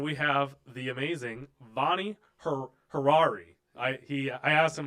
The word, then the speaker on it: Hariri: Hariri.